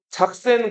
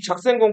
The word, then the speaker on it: 작센: 그러니까 이거를 영어로 읽으면 색슨이라고 읽는데 독일어로 읽으면 작센이라고 읽는단 말이에요. 작센 공 프리드리히.